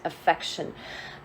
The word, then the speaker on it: affection: There is an extra syllable here. It's an affectation, and this is affection.